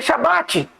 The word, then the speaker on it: Shabat: Por que tem que ser Shabat? Como eu disse, a palavra Shá está envolvida, irmãos. E a gente só acha ela na pronúncia Shabat.